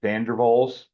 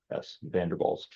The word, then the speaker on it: van der Waals: The second is called dispersion forces, also known as van der Waals forces. It's spelled V-A-N-D-E-R capital W-A-A-L-S, van der Waals.